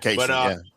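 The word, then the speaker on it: Caissie: Uh, is it Casey or Cassie? I can't remember how they pronounce it. Casey, Casey. Um, hits a bribe to left center.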